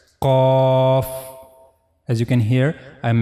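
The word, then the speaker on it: ق: Then the origin of this letter cough is soft pallet. This is the pallet. Okay. And this is the soft pallet. As you can see the last part of the palette. This is called soft pallet. So while reading cough you have to use this part of your pallet. roof of the mouth in the area of soft pallet. This is the origin of letter cough.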